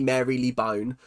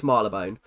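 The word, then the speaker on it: Marylebone: And I by my logic, it should be Mary Leone, but it's Marabone.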